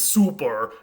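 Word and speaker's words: sulpur: But the oldest Latin form is super, pronounced with a P and not an F.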